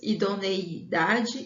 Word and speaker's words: idoneidade: Então, a pronúncia correta e a escrita também é idoneidade e espontaneidade, com I e não com A, ok?